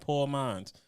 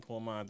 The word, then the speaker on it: Pour Minds: Nah, Poor Minds. Two. It's spelled POUR Minds.